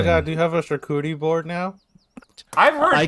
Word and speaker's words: charcuterie: That's pronounce not that? fair. I have never heard like this. Charcuterie board?